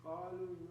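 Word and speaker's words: قالوا: Yes, so it's a silent letter. Qalu, kanu.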